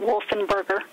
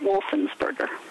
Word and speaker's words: Wolfensberger: Talking to someone who actually knew Ed, Ed Wolfenberger pronounced his name without the S, so he pronounced it Wolfenberger.